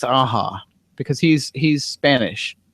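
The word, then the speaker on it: Aja: Aza I think it's aha because he's he's Spanish I think it's pronounced aha oh interesting okay I just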